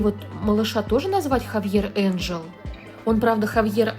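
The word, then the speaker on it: Ángel: А я теперь думаю, может быть, мне вот малыша тоже назвать Хавьер Энджел? Он, правда, Хавьер Анхель, но у меня будет Хавьер Энджел. Это просто это испанское имя, и, видимо, поэтому читается немножко по-другому, чем пишется.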